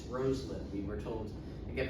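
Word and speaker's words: Rosalynn: And yes, that's how you pronounce it. It's Roslin. We were told to get very emphatically down there. Anytime you hear somebody say Roslin, they are very wrong.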